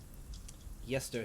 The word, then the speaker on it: Yester: Let me just make sure I'm pronouncing this correctly. God, I wish I had these tabs better. Yester Hill.